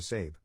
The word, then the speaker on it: Sab: To cut right to the chase, I legally changed my name to Sab, pronounced like Abe, but with an S.